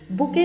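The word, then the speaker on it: bouquet: की कीमत कितनी होगी बुके में टी साइलेंट होता है तो इसलिए हम इसे बुक कहते हैं और नेट ऑफ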